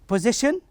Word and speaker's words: position: So in this case we stress the syllable that precedes the last one, T-I-O-N.